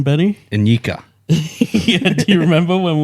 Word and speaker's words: Nyika: You were saying Nikia, dude. I might have been 8 brouhahas deep and said something like borderline where I combined all those letters together. Yeah, and I was like, dude, it's spelt like Nika. Remember? All right. Yeah, let's not go back there. But it's Nyika.